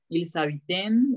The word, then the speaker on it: ils habitent: Nunca, nunca en verbo suena la NT. Entonces no vayan a decir ils habitent, ils habitent. No, nada más hasta la ED, la A y la I, acuérdense que se pronuncia E.